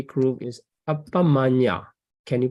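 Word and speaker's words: Appamaññā: Then the number 3 group is Appamanya. Can you pronounce this one? Appamanya. Right. Appamanya.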